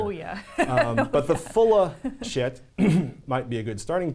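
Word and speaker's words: Schiit: Yes, shit is our name, and it's pronounced, well, like, hey, man, that's some really good shit.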